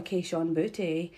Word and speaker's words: Kayshon Boutte: But also, my boy Kayshon Boutte.